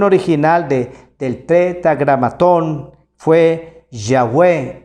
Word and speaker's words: Yahweh: De ahí viene entonces el nombre Jehová, y los hebraístas han llegado al acuerdo general que la pronunciación debe haber sido Yahweh o Yahvé.